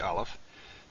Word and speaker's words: aleph: vowels to a vowels aleph on the other hand really isn't pronounceable or if you do pronounce it you pronounce it as a as a glottal stop a stoppage of breath and so it doesn't